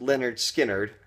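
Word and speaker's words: Lynyrd Skynyrd: And then 1973 we've got Leonard Skard pronounced Leonard Skard which is the actual name of the album.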